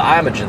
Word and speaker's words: Imogene: It's called the, Meg calls it the Imogene Theater, but I've heard a lot of people call it the Imogene Theater. It's spelled I-M-O-G-E-N-E, so you can pronounce it however you want to.